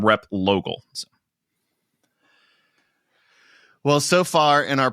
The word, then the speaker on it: Replogle: V like Vogal some people know that name rep logal well so far in our podcasting experience together